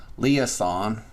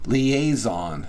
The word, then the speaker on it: liaison: which they are the Le leason leison I I always pronounce that one wrong liaison there we go are the liaison to